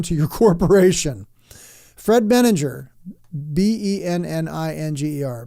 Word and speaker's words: Benninger: your corporation Fred meninger b-e-n-n-i-n-g-e-r benninger I guess would be the right way to say that Fred benninger MGM chairman